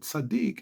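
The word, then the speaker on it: צדיק: sadik Kar Adonai sadik two syllables sadik Kar karar if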